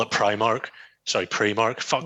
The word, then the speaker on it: Primark: once and for all is it pre-market Primark and they're gonna go you all the best and hang up because if you pronounce it pre-mark you're Creole as well there you go that sums that up it's called premark Uh if you've had